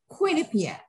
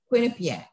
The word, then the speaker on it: Quinnipiac: correct an alum but i think we pronounce it quinnipiac with the emphasis on the queen quinnipiac well you can correct